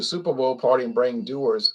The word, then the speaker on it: Dewar's: You go to the Super Bowl party and bring Dewar's. Oh yeah, Dewar's. Or Dewar's, people pronounce it Dewar's.